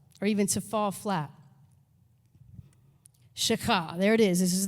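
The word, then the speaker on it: שחה: used 172 times, is shakah. Everybody try to say that, shakah. When you get that, that's how you know you're saying it right, when you feel that sort of thing happening in your throat.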